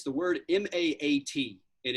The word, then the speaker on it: Ma'at: just put out there and it's the word m-a-a-t and it's it's pronounced ma'at and uh it the the concept